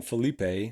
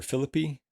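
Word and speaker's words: Phillippe: few that were interesting Ryan Filipe or Philippi Ryan philippy I think it's pronounced John krinski Zachary Levi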